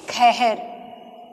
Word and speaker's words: शहर: तालव्य श जाता है लेकिन इसका उच्चारण जो है वह खा के जैसे किया जाता है ठीक है जैसे कि आपका हमने लिखा शहर लेकिन ब्रज भाषा में इसका उच्चारण कैसे करेंगे खहर ठीक है ब्रज भाषा